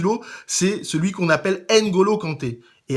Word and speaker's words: N'Golo: c'est celui qu'on appelle Ngolo Kanté et à chaque fois que j'entends Ngolo Kanté j'ai envie de me tirer une balle en fait on devrait prononcer une Golo Kanté donc tous mes amis